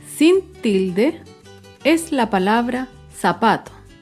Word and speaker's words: zapato: Un ejemplo de palabra grave sin tilde es la palabra zapato. Zapato se acentúa en la penúltima sílaba, pero no lleva tilde porque termina en vocal.